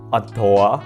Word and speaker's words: ADOR: Lalu ada yang namanya Adore, bacanya Adore, ya Adore, tak bilangnya Adore ya biar mudah.